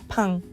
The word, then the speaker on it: pain: The next word is spelled like the word pain in English, but it's pain.